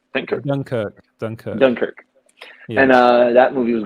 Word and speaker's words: Dunkirk: and um i don't even know how you pronounce that in english dinker denkirk thank you young kirk duncan dunkirk and uh that movie was great thank you